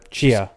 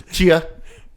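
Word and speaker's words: Tchia: Chia. Chia. Is this one the T silent? Yeah. Okay. Kind of. Chia. Chia. Chia. Chia. Chia. Cha. Chia. So Chia.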